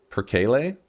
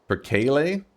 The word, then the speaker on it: perkele: Perkele? Perkele? Perkele. Gotta roll the R.